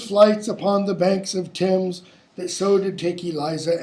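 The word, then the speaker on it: Thames: upon the banks of Tims that so did take Eliza and our gems you know it has to rhyme you don't say tames and James because it's not pronounced tames but stay I see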